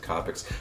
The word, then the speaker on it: Copic: use those or kopecks I always say I would say kopecks but I think most people pronounce it convicts that right there by